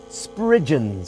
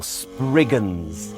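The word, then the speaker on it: spriggan: Sprigens or spriggins if you like slight more contemporary pronunciation.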